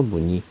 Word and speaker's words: 무늬: 흰머리 이렇게 발음하면 되죠 그다음 무늬 마찬가지 첫소리가 자음이 있네 그러면 2로 발음해서 무늬 이렇게 발음하면 됩니다 입과